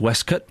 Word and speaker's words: waistcoat: Well, we've already established that waistcoat is pronounced Westcott.